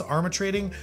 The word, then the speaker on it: Armatrading: All that clarification that I just went over here, and the last one, Joan Armatrading, I think is how it's pronounced, Armatrading.